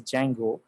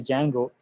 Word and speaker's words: Django: call this as a django uh the d is silent right so we just say django so these are the